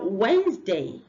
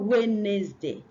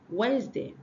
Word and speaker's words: Wednesday: Then we have Wednesday, not Wednesday. Wednesday. The D is silent and the second E is silent. It's Wednesday.